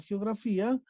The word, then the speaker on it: geografía: Entonces, eso quiere decir que se rompe la sílaba y tenemos fi como la palabra grave, o sea, la sílaba tónica. Entonces, por posición de sílaba, observamos que la palabra geografía es grave.